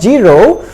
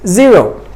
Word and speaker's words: zero: So here this is the wrong pronunciation, but you focus on the English letter J, the ja sound is not accurate because it's not zero, it's zero.